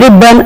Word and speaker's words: ribbon: And look at these two words, please: rubber and ribbon. R-U-B-B-E-R, R-I-B-B-O-N. But we are not showing the double B here. We are showing only rubber, a single B. So rubber and ribbon are wrong pronunciations.